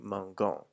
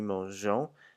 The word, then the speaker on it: mangeons: But because you want to maintain that je sound that's in the other types of verbs for manger, we have to add an e because the G just in front of the O makes a g sound.